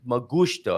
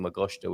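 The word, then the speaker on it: magusto: I've had a a pronunciation note magto I beg you pardon I'm saying MTO which probably means something else M magto so yeah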